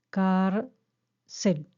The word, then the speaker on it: cárcel: silabeo divido en sílabas la palabra cárcel por ejemplo identifico la sílaba tónica en el segundo paso identifico la sílaba tónica es bueno recordar que la sílaba tónica es la que se percibe que dura más al ser pronunciada car cel dura más tercero contar las